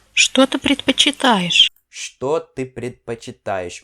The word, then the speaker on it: предпочитаешь: Aqui você pode ver que essa letra é pronunciado como se fosse um A. Isso aqui é a letra O, só que é pronunciado como se fosse um A. Ok? Então, предпочитаешь, não предпочитаешь.